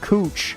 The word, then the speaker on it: Couch: If you ever find yourself in downtown Portland, Oregon, and you see a street named Couch, know it's pronounced cooch.